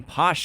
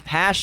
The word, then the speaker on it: Pash: as well as he helps Oppenheimer by sending Posh away he sends Posh to well it's pronounced pot Pash is that the hash it's that was Colonel she sends Pash away yeah he sends Pash away to Europe